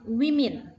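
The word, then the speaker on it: women: lebih dari satu a berubah jadi woman menjadi wimin nah seorang anak Child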